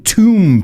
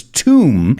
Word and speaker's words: tomb: They found some Egyptian tomb paintings, and remember, it's not tom, that word, it's tomb, and these were from the 16th century BC.